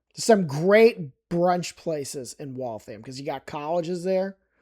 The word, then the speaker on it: Waltham: It's not Waltham. It's Waltham. Waltham. Some great brunch places in Waltham because you got colleges there and I assume that's why they're there.